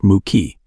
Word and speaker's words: Mickey: "I'm Mickey," pronounced Mookie.